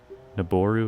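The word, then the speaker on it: Nabooru: So, the O in Niburu is a long O sound. or the oo. A long o. I thought that's what I said. Naboru.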